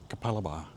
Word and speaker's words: Capalaba: Now, if you live anywhere outside of Queensland, you won't have a clue how to pronounce that. It's Kapalaba.